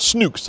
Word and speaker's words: Snook: Now, at first I thought they were called Snooks, I've got to be honest. But this one seems to rhyme with book, so I think it's Snook. Snook and book. So I think that's our pronunciation.